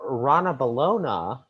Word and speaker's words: Ranavalona: modern bring them sometimes yeah exactly exactly so rana balona i said it right right you said it